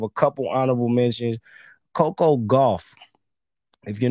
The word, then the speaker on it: Gauff: Coco Golf. If you're not familiar, look it up. Golf is spelled Gauff.